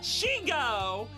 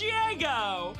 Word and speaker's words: Shigo: I don't think anything is as bad as Amelie thinking that Shigo is pronounced Shiego.